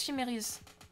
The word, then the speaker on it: Chimérius: Ça se prononce Chimérius. D'accord, excuse-moi. C'est latin en fait.